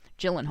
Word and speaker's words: Gyllenhaal: Jake Gyllenhaal. Okay, it's Soft G. Gyllenhaal. Yes.